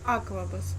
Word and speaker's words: Аквабус: Аквабус. Окей. Я запомнила. Аквабус. На А. На первом. Ударение.